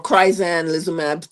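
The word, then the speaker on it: crizanlizumab: pronounce yes yes yes it's called chrisan liab it's a nice long name chrisan liab um so or kryan liab some call it um uh but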